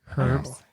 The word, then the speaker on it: herbs: In America, we say herbs. Yes, we do. The H is silent. The The H is silent. We were all taught that in English class. But if you're actually English, they say herbs.